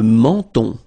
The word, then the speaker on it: menton: Le menton. Okay, same thing here. So you get two nasal. The first one here, en, and then the second one here, on.